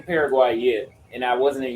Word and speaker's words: Paraguay: welcome at in the world and Paraguay is pronounced Paraguay it's like it's like f y f Ur